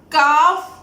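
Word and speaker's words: قاف: Between these alphabets, Alif Madda is present, so we lengthen the sound of Qaaf, and also Qaaf is pronounced as a thick word.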